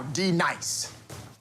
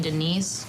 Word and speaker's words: D-Nice: Now, D Nice. Do you mean Denise? Son of a bitch. You say your name right now. Denise? Say it right. Denise. Correctly. Denise. Right. Denise. Right. D-Nice. That's better. Thank you.